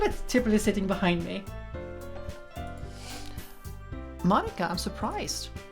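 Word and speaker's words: Monika: Munika? Wait, what? Munika, is that how he's pronounced it? Munika? Just say Monica.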